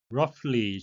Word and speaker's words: roughly: roughly GH는 F 발음이 되겠습니다.